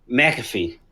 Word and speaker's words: McAfee: you say his name i got it wrong mcafee mcafee thank you sir was found dead in